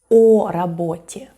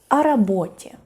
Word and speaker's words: о работе: And you know, of course, that when o in Russian is unstressed, it's pronounced more like a. So we don't say о работе, we say о работе.